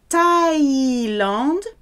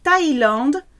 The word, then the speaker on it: Thaïlande: La Thaïlande, those two dots over the I say pronounce everything. La Thaïlande, there's no th in French, it has to be a hard T sound for TH. La Thaïlande a un climat tropical toute l'année.